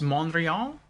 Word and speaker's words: Montreal: know that Tachi says you are not supposed to pronounce the T in Montreal so it's monreal tach say I would